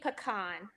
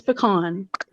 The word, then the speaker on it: pecan: right now princess happy I say pecan for oh it's pecan yeah pecan yeah Sarah probably says pecan I do like a pecan that you pee in yeah yeah pecan pie